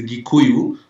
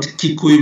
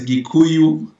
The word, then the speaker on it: Gikuyu: Now, the local the local dialect pronunciation is Gikuyu, not Kikuyu with a K, is with a G. So it's Gikuyu, Kamba, and Meru.